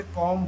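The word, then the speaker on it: comb: कब साइलेंट होता है, बी तब साइलेंट होता है एम के बाद, एम के बाद कभी भी बी आए, एम के बाद कभी भी आए, बी आए कभी भी, तो हमारा बी साइलेंट हो जाता है।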